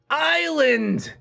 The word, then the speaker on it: island: honest h is silent island s is silent q u-e-u-e is silent